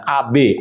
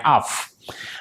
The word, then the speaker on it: Av: ini saya membahas mengenai bulan AF atau dalam bahasa asnya bulan AB up up atau saya bacanya AF Bapak Ibu kita mengerti